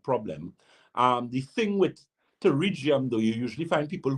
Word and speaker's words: pterygium: there's an eye condition called pterygium um which is actually spelled with a p but it's a growth